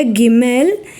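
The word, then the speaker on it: גימל: രണ്ട് ശബ്ദം ബ വ മൂന്നാമത്തെ അക്ഷരമായ ഗിമ്മേൽ ഇതിൻറെ വില മൂന്ന് ശബ്ദം ഗ നാലാമത്തെ അക്ഷരമായ ഡാലത് ഇതിൻറെ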